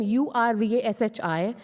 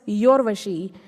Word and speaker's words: Urvashi: For example, I have a name U-R-V-A-S-H-I. It is not pronounced as Yorvashi. It is pronounced as Urvashi.